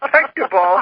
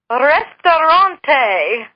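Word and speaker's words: Ресторан: she'd laugh, and said, that's not how you say it, but that's what it looks like with these weird, like the P is like our R, like that. It's the best our brain can come up with. And so this time I said, well, how do you pronounce that? If it's not Pektapal, how do you pronounce it? And she says, Restaurante. And Mom is trying to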